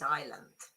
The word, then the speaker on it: island: The S in island is silent. It is true because it's island.